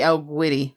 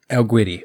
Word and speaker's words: El Guiri: Is it Spanish? I believe it's Spanish. It's Spanish. It's a Spanish studio, yeah. Then it would be El Guiri. El Guiri.